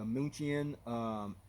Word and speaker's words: München: the Airbus A380-800 decal, the München decal, name of the aircraft, which is actually pronounced as Munich in the English language, the front cargo container